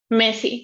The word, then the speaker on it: Messi: Messi, because it's double S.